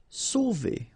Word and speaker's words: sauver: Sauver. Okay, remember when you combine A and U, you get the sound O. So really like the letter O. Okay, so sauver, sauver.